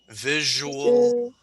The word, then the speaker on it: visual: visual, Visual.